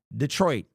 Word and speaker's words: Detroit: The correct pronunciation of the word Detroit is Detroit. It's French.